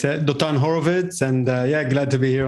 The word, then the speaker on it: Dotan Horovits: Yeah, it's Dotan Horovits.